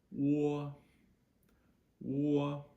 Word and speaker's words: o: So that O, that is exactly how we pronounce O, just a standalone O. In Pinyin, it's O, O. So, picture a New Jersey accent.